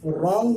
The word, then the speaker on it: wrong: कायदा है कि अगर R से पहले W हो या S के बाद W हो तो W हमेशा साइलेंट रहता है, जैसे WRONG, रॉन्ग मीन्स गलत। R से पहले W आया, सूरत में W साइलेंट हो जाएगा।